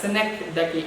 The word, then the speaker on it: synecdoche: So you can pronounce it in many wrong ways, but it is pronounced as synecdoche.